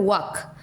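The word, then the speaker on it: walk: वाक। Word दिया गया है वाक। व डब्ल्यू है, वा डब्ल्यू ए वा क, तो एल ओमिट हो रहा है, तो इसीलिए एल होगा क्या? Silent letter.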